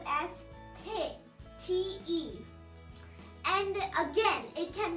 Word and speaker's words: 手: In Japanese, it's called as te, T-E.